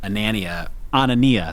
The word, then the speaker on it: Anania: different A&R guy, Dave Anania. That's what it is. He sent me a text with a way to pronounce it one day, and it was like, it's like Mamma Mia.